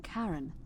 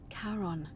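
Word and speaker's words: Charon: a hooded figure with a coin to the pronunciation is a little off the name you heard wasn't Karen it was c h a r o n as in karon the Fairman of the Dead karon who in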